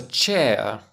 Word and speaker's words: chair: buy them in Ikea it's a chair and it contains air hmm that's a diphthong it's got two monop thongs it contains the air and the ER air good now I'm going